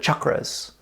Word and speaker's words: chakras: As a setup for this meditation, what we'll be chanting on are known as the chakras, or sometimes in North America we'll call them chakras. Right? Chakras is actually the more proper pronunciation, but we need not be sticklers with pronunciation all the time.